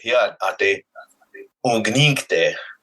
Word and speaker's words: Hóyeya ate ungninkte: But he said, Hóyeya ate ungninkte, which is the correct version, the correct way to say that.